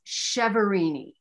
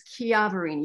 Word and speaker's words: Chiaverini: know smith or something the americanized pronunciation is chevrini but you know it's the italian pronunciation is chiavarini you know like chianti you know or and